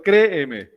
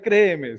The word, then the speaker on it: créeme: Pero en el español tradicional uno dice, créeme. Sí, sí, sino que uno como tiene esa marca distintiva bayuna, si uno sale a ver, créeme. Pero no, la palabra se debería pronunciar ahí.